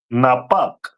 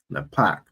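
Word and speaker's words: נפך: And that is pronounced in Hebrew as Napak. Napak.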